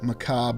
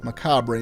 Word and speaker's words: macabre: this chapel in a very Macab or Macabre manner, whether you're using American or British English.